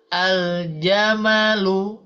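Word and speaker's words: الجمل: hilang Nam dan juga secara bacaan lamnya diucapkan atau dibunyikan suaranya ya contoh aljamalu Nah ya aljamaluah gitu Ibu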